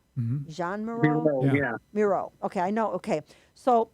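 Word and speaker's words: Miró: How do you pronounce it? Jean Moreau? Jean Moreau? Bureau, Yeah. yeah. Miro.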